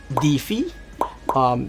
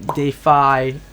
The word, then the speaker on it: DeFi: a new stuff called DeFi, DeFi, however you guys want to read it, but it's spelled as DEFI.